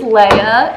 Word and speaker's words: Leah: am a first year my name is leia it's spelled l-e-a-h i don't correct people when they call me leah because i'm just too lazy and that so leia leah i don't care are you she her